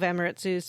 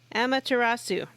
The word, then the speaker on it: Amaterasu: making me feel like a god all of emiratzu's powers am i saying that right you said it differently johnny amanda tarasu amateur emma tur emma say the second syllable again amaterasu yeah so uh all of amaterasu's powers are